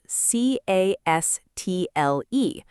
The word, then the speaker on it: castle: And castle is spelled c a s t l e, pronounced castle. Again, no T sound.